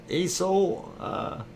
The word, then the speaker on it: Aso: Aso, assassin. It's not an assassin. It's spelled A-S-O.